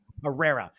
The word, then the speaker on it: Pereira: last name again herrera herrera like adam ferreira but with a p correct oh i got